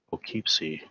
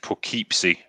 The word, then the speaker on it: Poughkeepsie: Plokeepsie. Okay, there we go. I don't know how to... People are saying it's pronounced Poughkeepsie.